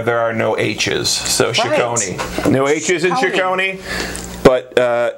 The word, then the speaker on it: Cecconi: Cecconi. I knew I was going to think like you're like pronouncing. It's spelled differently, but Cecconi. It's pronounced the same way. Cecconi.